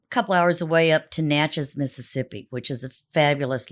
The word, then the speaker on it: Natchez: just um a couple hours away up to Natchez Mississippi which is a fabulous little town is